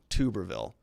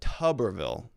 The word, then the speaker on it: Tuberville: much about pronunciation here but tuberville senator tuberville not tuberville although i kind of like tuberville better thanks avalon we have